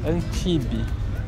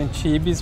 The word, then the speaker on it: Antibes: isso que depois virou Antibe. Se escreve Antibes, mas pronuncia sem o S, Antibes.